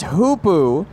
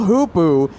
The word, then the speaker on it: hoopoe: I believe it is pronounced hoopoo.